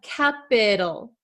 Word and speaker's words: capital: like this uh sandwiched between two vowels usually it's going to become something called a flap T which sounds like a soft D in American English Okay so uh we have capital capit Capal capital capital capital capital okay so what is the